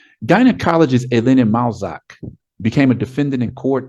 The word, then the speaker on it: Malzac: Again, it's the picture of Dr. Helena Malzac, or Malzaki, how they might pronounce it in Brazil. Gynecologist Helena Malzac became a defendant in